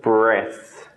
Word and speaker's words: breath: is the correct answer breath this just makes a short e sound the rest make a long e sound C SLE reason where